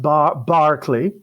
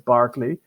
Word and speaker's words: Berkeley: House of Lords today Michael Berkeley and it's pronounced Barclay even though the spelling it suggests Berkeley but it's Barkley and this is just one of many persons